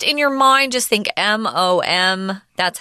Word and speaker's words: Maugham: you might be wondering how do I even pronounce that it is the G in the H are both silent so it's mom yeah it's kind of